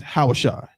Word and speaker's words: Hosea: these are horrible mistranslations the proper pronunciation of hosea's name of what they say OC is is hawashi how if you say